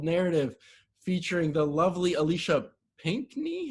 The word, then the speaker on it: Pinckney: featuring the lovely alicia pinkney how do i how do you say your last name pinkney two syllables the color and then the knee perfect um who is